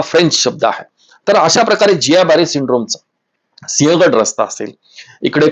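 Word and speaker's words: Guillain-Barré: काय परिस्थिती आहे ते जियाबारी सिंड्रोम त्याचं स्पेलिंग गुलियन बॅरी सिंड्रोम असा आहे परंतु उच्चार करताना जिया बॅरी सिंड्रोम तो जिया तो नाकातून निघणारा शब्द आहे जिया बॅरी सिंड्रोम जसा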